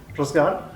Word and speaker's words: Razgar: My name's pronunciation in Kurdish is Razgar.